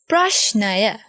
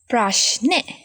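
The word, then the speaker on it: ප්‍රශ්නය: But in the spoken language, we say it as prashne. Now I said this sentence several times. When we say this, like in the spoken language, we say it like this.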